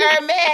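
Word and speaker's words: Hermès: You better pronounce it the right way too. Okay. It's Hermes.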